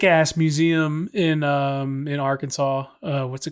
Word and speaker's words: Arkansas: don't pronounce it Aransas because it's literally spelled like AR and then Kansas but we for some reason say Arkansas AR Kansas um question